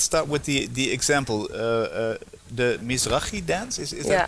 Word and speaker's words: Mizrahi: The Mizrahi dance, is that pronounced correctly? Yes, Mizrahi dance.